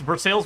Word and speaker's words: Versailles: It's Versailles, Missouri. It's near Lebanon, Missouri. Spelled like Lebanon.